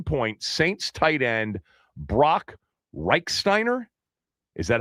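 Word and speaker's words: Rechsteiner: Is that how you pronounce it, Yep. Reichsteiner?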